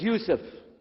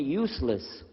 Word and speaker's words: Yusuf: work on it chalo my name is Yusuf he say Yusuf and he said you said you're very good I wish you teach my wife she keeps mispronouncing it she calls me useless haha humbly now how